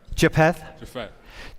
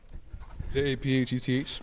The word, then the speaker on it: Japheth: Japheth. The PH makes an F sound. Japheth.